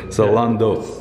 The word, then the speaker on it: Zalando: Zalando. Do I pronounce it right? Zalando. Zalando. Sorry, I pronounced it incorrectly. So Zalando.